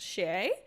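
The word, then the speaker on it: Chez: did you know that this word in French is actually pronounced Shea and everyone's like yes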